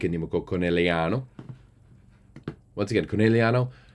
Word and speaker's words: Conegliano: Once again, Conegliano not a name that you can say with like an English accent. You have to say it like an Italian.